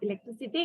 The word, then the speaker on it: electricity: So electricity, it represents S as in silly.